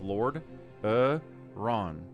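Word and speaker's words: Lordaeron: It's three syllables. Lord Ron.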